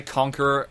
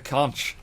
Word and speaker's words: Conch: full Contra mode then so tempted to say conqueror every time I pronounce this weapon but it is a conch it is a conch